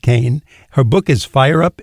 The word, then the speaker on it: Cahen: len Co Kane it's spelled c a hen pronounced Kain her book is fire up Innovation and Ellen